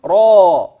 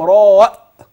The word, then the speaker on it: را: مفخمه جميل دال ذال وانتبه للحرف القادم كيف انطقه لاني سانطي لى في كتاب الله را بامكانك ان ترى في الكتب او من ينطق را هو صح ل لكني اخترت هذا النطق لانك ستنطق في فواتح الصور ا لام م ستقول را ولن تقول الم لام راء بهمز خطا في القران ستنطق ال لام